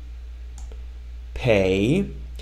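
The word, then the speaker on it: פ: let's keep going uh next letter is pay pay and this one notice it has a DOT pay sound P it has a DOT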